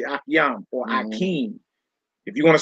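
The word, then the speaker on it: אחים: If you want to say brother, if you want to say brothers, you would say akim or akiam. Some brothers say akiam or akim.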